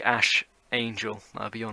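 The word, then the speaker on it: Æ: of waffles saying like in the greek alphabet x xae it's pronounced ash and then whatever is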